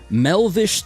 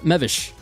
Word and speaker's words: Mevish: Melvish. Tariq. What game is this? Melvish. is Library of Ruina Th. Yeah, we're circling back. I'm glad you're good now. Mevish Mevish Tariq. Sorry, I I mispronounced your name.